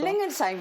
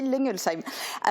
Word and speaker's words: Lengelsheim: Lengelsheim. Enfin, moi, je le prononce comme ça et je crois qu'à peu près tout le monde dans le pays de Bitche dit Lengelsheim.